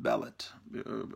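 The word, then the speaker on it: Bêlit: with Pirate Queen named, I always read the comic that her name was pronounced Bele, and then Paulo was telling us that it really should be pronounced Bellet, according to the accent mark on there.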